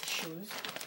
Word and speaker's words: Choies: Shoes, não sei. Lembra muito a pronúncia de shoes, que, né, que é sapato em inglês, mas é Shoes. O nome da loja é com Choies, Shoes.